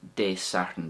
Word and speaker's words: Dé Sathairn: Like the Monday, there's a little I at the end of De Sathern there, so I'm trying to get that in to reflect that softening at the end of it there. So An Sathern, just more of a perhaps an A sound, and De Sathern, I'm trying to just soften it to kind of show that I at the end there.